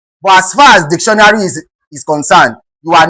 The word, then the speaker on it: dictionary: Dictionary is stressed on the word dic. It is called dictionary. Dictionary. Dictionary.